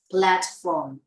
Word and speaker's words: platform: to studying platform, plat, đọc là em mở miệng dọc xuống nha, sẽ ra được cái từ này plat, em mà mở miệng dọc xuống là ra được thôi, platform.